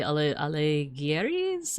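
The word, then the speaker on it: Alighieri: Um, and yeah, it it seems to be based off Dante Alleis. Um, that's how you pronounce it.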